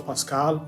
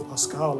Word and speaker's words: PVSQVLE: Rocky and ASAP Mob they would spell a but upside down so it looks like a V like some people see the way it's spelled and then they go like it's hard to pronounce cuz it all looks like consents but some people see it and then they just immediately go Pascal and then whenever I